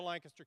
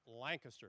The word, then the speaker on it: Lancaster: Welcome to Lancaster County. And it's pronounced Lancaster, not Lancaster.